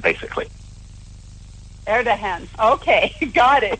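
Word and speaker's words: Erdoğan: His name is Recep Tayyip Erdogan, but, you know, Erdogan, basically. Erdogan.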